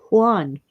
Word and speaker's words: Juan: Oh, but J is Hota. It sounds like H. Juan.